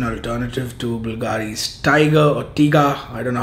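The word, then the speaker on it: Tygar: Turathi Blue, if you already know it, is an alternative to Bulgari's Tiger or Tiga. I don't know how you say it. It's Tiger, definitely.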